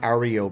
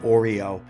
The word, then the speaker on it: REO: It's not Oreo. If I said Oreo, then obviously that was a mistake.